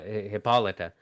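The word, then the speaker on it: Hippolyta: Uh Hippolita and u did I say that right?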